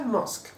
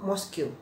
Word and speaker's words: mosque: Kemudian ada lagi mosque, yang betul adalah mosque. Tapi saya pernah dengar orang sering mosque bilangnya ya, atau mosque atau mosque. Ya, jadi bukan mosque teman-teman ya, yang betul adalah mosque.